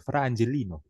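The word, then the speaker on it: Fra Angelico: ini adalah tulisan dari fra angelino ya k orang Italia bacanya harus gitu ya frangelino ini dilukis pada abad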